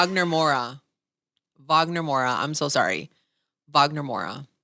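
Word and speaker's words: Wagner Moura: Jordan and Sinners, and Wagner Mora.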